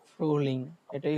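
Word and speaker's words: Frühling: ফ্রুলিং এটাই হচ্ছে উচ্চারণ।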